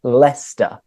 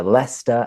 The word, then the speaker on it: Leicester: would be le no no it's Leicester so Leicester and leester city um so there are